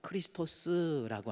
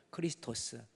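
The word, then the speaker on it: Χριστός: 헬라어로 크리스토스라고 하는 것은요. 무슨 뜻이에요? 크리스토스.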